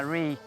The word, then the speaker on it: Ruike: Da un paio d'anni ha fatto una scoperta molto interessante di questo marchio che si chiama "Reik" si scrive "RUIKE" che è un brand molto nuovo ed è prodotto in Cina.